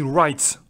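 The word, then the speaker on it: write: ici je le répéter on ne prononce pas le W on dit Wright voilà ça déménage ça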